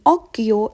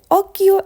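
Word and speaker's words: occhio: pronunciation please Oro please see the difference between OKO and Oro Okio is eye and orio is ear now let's move on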